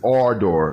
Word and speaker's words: Ardor: eat the bike no it's our door like a a-r-e door or door okay guys um i